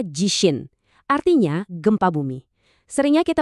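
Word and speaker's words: 地震: Dibacanya jishin.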